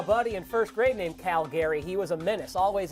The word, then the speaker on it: Calgary: So I like the Calgary Flames coming out of that North Canadian division.